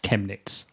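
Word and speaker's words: Chemnitz: who's listening live has just told me it's pronounced chemets ah thank you admin JS and your extensive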